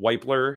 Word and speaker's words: Wypler: Probably said that right. Center out of Ohio State. You did say it right because I did another video on him as well. So yes, Tony, you are correct. Of course. That's where I got my pronunciation from.